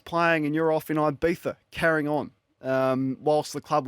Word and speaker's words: Ibiza: It's not Ibiza, it's Ibiza. Got pulled up on that too. What are you doing? You're a full-time professional athlete. Your women's team is playing and you're off in Ibiza, carrying on, whilst the